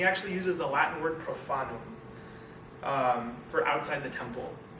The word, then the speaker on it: profanum: uses the Latin word profanum um for outside the temple and profanum sounds like the word profane right that's the root of